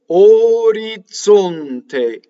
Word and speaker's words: orizzonte: Orizzonte. So this is a TZ like the TZ in Mozart or pizza.